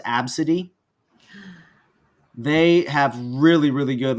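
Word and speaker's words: ABCDE: AB CDE e it's it's pink but it's pronounced absidy they have really really good live resin products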